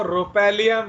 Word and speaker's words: rhopalium: ओहो, वो रोपैलियम है। हाँ हाँ हाँ रोपैलियम, देख रहे हो, तुम साला रोफालियम।